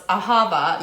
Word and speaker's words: Ahava: Literally, if you Google like how to pronounce Ahava, you get a lovely computer-generated thing that says Ahava.